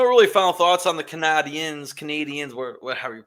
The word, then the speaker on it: Canadiens: How do you pronounce it? Canadiens.